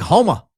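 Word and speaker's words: Houma: Homa, pronounced like Homa.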